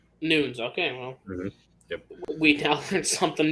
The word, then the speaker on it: Nunes: she's been done yes i've been saying it wrong oh no a lot of people do it's amanda nudes nudes okay well we tested